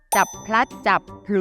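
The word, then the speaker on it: จับพลัดจับผลู: ติ๊กต เฉลย ค่ะ นะ ที่ ถูก ต้อง ต้อง จับ พลัด จับ ผลู นะ คะ ออก เสียง ควบ กล้ำ ที่ พยางค ท้าย ด้วย นะ แปล ว่า จับ ผิด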